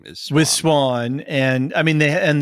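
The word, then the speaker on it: Siuan: it for you okay just say it Swan Swan thank you stupid spelling but yes that is that is her name is Swiss Swan and I mean they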